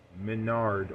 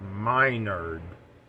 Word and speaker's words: Menard: weakling Grom it shows how Menard or Minard as is the proper pronunciation is planning and setting